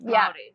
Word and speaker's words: Māori: Is Maori how you say it? I don't want to say it. Maori.